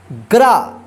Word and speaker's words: ग्रा: देखिए गरा और ग्रा, ध्यान रखिएगा आप, ग्रा आता है तो र पदेन, ठीक है, गरा, इसको गरा पढ़ेंगे।